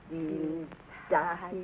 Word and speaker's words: Dienstag: Sonntag, Montag, Dienstag, Mittwoch. That is good. But pronounce the words broader, so Sonntag, Montag, Dienstag, yes?